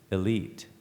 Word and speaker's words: elite: Has several different related pronunciations. Sometimes it's elite or elite, but the primary pronunciation is elite.